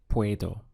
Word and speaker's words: puedo: In mini course 1, we learned that I can in Spanish is puedo. We have two syllables, pue and do. So together, puedo.